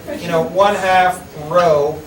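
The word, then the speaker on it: rho: you use this symbol it's the Greek letter row how do you spell that r h o it's row it's the Greek letter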